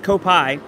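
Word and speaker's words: Koh Phai: on the beach of co-pi which by the way is spelled koh PHA i you drop the H I think yeah drop date so it's ko Pi which is about 20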